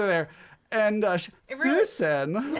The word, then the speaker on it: Füssen: And she was like, Füssen. And I was like, Oh, they pronounce the E's with the E.